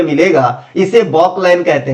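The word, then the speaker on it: Balk line: घर में मिलेगा इसे बॉक लाइन कहते हैं। क्या कहते हैं? बॉक लाइन। ऐसे बॉल लिखा रहता है लेकिन यू एल जो है साइलेंट है। वाक लाइन।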